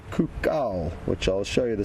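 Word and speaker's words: coucal: It's called a Burchil's c owl cuckul not a cuckoo. I know pronunciation can sometimes be a little bit misleading. So, it's not the regular cuckoo, but a cuka, which I'll show you the spelling of shortly.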